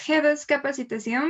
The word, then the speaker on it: G2 Capacitación: It's Hedos Capacitación, but you can pronounce it as G2 you want.